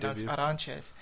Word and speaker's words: Arantes: He's 5-1 with a loss to Felipe Arantes. Mhm. Pronounced Aranches, but he's al he picked up a split decision over Rodrigo Dam.